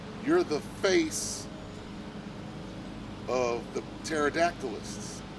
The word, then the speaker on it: pterodactyl: the t word okay pterodactyl which is spelled with a p but they're going after